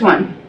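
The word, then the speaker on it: Auan: This one is called it sounds like on. It's A-U-A-N, but it's pronounced like you would say on, O-N, that kind of sound.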